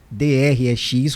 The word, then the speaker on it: Drex: Mas o nome é esse mesmo, a pronúncia que o Banco Central espera que fixe no mercado seja essa, Drex. Não é DREX, como algumas pessoas estão tentando, é Drex mesmo.